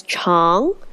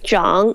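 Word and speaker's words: 长: Isn't this character pronounced as Chong? How come it is John? Now, the answer is it has two ways to say it, which also refers to two different meanings.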